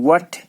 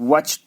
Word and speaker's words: what: WHAT, वट, H silent, वट नहीं, वट silent है, ठीक है।